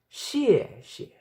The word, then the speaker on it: 谢谢: The correct term to say thank you is 谢谢. 谢谢. It's an affirmative tone going down to humble yourself and stay in that humbleness.